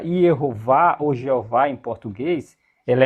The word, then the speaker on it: Jeová: Então, por isso que a pronúncia Jehová ou Jeová em português, ela é legítima, tá pessoal? Muito legítima. Ela é muito mais legítima do que a pronúncia eh javé ou Yahué.